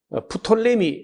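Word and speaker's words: Ptolemy: 그러니까 프톨레미 하다가 프 하는 것은 묵음으로 되고 그냥 톨레미 이렇게도 합니다.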